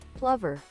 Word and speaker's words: plover: Plover. So it's plover. I just looked up the pronunciation, plover.